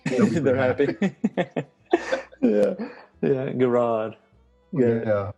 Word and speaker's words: Garrard: i think most people as long as you pronounce it correctly they're happy yeah garage yeah yeah not a garage not gerrard not gerrard yeah yeah well um i guess